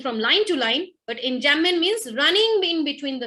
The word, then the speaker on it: enjambment: Pronunciation is enjambment, okay? In between, it remains silent, M and B.